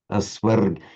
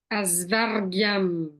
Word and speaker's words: asvargyam: So Aswargyam, try to pronounce this like, imagine you're an Indian of 2,500 years ago. Oops, what's come up here? Aswargyam. Aswargyam. Asvargyam. Can you do the R sound? Asvargyam.